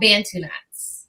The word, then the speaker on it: Bantu knots: it a certain way, and I'm sure I'm pronouncing it incorrectly. They're called Bantu knots.